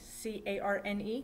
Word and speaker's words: carne: the spanish word for meat is carne cardenas c-a-r-n-e carne is how you would like the american way of print pronouncing it carne gardner and this uh the